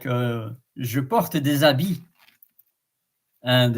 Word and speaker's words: habit: It's habit, Habit, habit, and in French, habit. The H is silent, by the way.